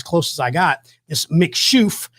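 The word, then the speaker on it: Mc Chouffe: is about as close as i got this mick shoof it's real weird to pronounce but it's it's mc and then it's c-h-o-u-f-f-e mcshoof is how you pronounce it but it's a darker beer it's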